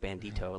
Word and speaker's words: Bandito: tour I don't know it's hard to say it like Bandito like it's antique oh yeah how was